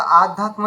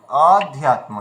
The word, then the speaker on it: অধ্যাত্মা: সদষা আধনিত নিরমহিত এখানে ভালো করে একটা জিনিস লক্ষ্য করবেন ওখানে অধ্যাত্মা রয়েছে তো এখানে আমরা আধ্যাত্মা যেন না বলি অধ্যাত্মা ঠিক আছে নির্মাণ মহাজিত